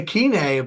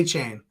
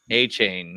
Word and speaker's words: Achane: to say Akine, but now everybody I hear everybody say A-Chain. A-Chain.